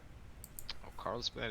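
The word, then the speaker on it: Karlsbad: Carlsbad is how it's pronounced. It's how it is in German.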